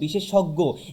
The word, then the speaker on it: বিশেষজ্ঞ: উচ্চারণ হবে সংবৃত ও এর মতো, যেমন বিশেষজ্ঞ। এখানে আমরা বিশেষজ্ঞকে যদি ভাঙি তাহলে দেখতে পাচ্ছি কি বিশেষ প্লাস অজ্ঞ, অর্থাৎ অধ্বনির পরে জয় ইয়ে এসেছে, যার কারণে এটার উচ্চারণ কেমন হয়েছে? সংবৃত ও এর মতো, বিশেষজ্ঞ, বিশেষজ্ঞ। অর্থাৎ এখন আমরা এই 5টি